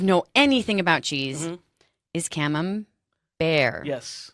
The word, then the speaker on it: Camembert: Paris anywhere like this do not say cam Umberto yeah just say camembert then you're in you're